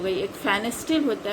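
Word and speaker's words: Pfannenstiel: एक फेनेस्टिल होता है प्यूबिक सिम्फेसिस से, यहाँ जैसे प्यूबिक सिम्फेसिस से 5 सेंटीमीटर एवं अगर इंसिजन दिया जाता है transversely, that is called फेनेस्टिल, P silent है, मैंने फेनेस्टिल इंसिजन।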